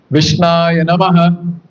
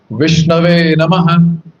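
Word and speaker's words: विष्णवे नमः: So those people who don't know this Deva Bhasha, that's Sanskrit, so those people might say, Vishnaya Namaha, but that's not the correct pronunciation. Correct pronunciation is Vishnave Namaha.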